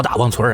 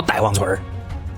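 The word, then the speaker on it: 大王村: 外头人叫大王村，俺这一片都管它叫呆王村。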